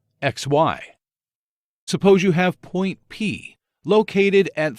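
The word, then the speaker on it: P′: Suppose you have point P located at 3, 4.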